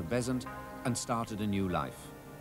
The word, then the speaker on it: Besant: with her daughter Mabel changed the pronunciation of her name from bazan to bezants and started a new